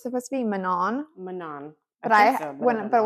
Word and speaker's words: Manon: like I know like it's a French name well at least like